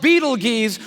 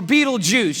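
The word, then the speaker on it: Betelgeuse: heard about this star it's called Beetle Gees or beetle juice you can pick your pronunciation I'm obviously going with Beetle Juice and Beetle Juice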